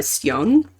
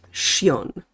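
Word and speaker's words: Sjón: to, but The Blue Fox by Cion. It's actually pronounced Shion.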